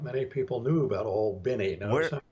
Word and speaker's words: Albany: The Viggies at the point were down in Naval Air Station Albany, and not many people knew about Old Binny. Notice I'm pronouncing Where's Albany, that at?